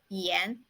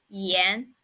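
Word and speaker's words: 炎: one means hot and the pronunciation of it is Yen Yen and it's quite easy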